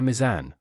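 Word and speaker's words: ميزان: Here we lengthen the U, misbah, with a long A mizan, with two long vowels, Mizan, avec mind the deux long voyelles I de and the prononciation, le i long et le a long.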